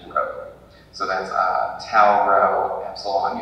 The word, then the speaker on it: rho: actually shows up, but the thing that looks like P in Greek is actually rho.